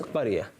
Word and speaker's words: قرية: The word is qaryah. The pronunciation is qaryah.